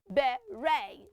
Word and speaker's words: beret: It is not beret because there is a silent letter T there. That T is not sounding T in that word. It is sounding A. So we say beret, not berets.